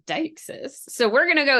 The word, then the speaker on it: deixis: And maybe we'll include a little spoof clip in here, but I always thought you pronounced it as Dixis, like you would like a Pokemon name, but no. Apparently, it's Dyes.